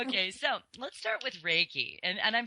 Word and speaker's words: Reiki: And my 3 modalities of assistance are Reiki, light, and crystals.